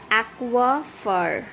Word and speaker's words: aquifer: So it is aquifer, not fer. Aqua, and R is silent in British.